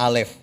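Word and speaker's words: אלף: Ini bacanya Alef.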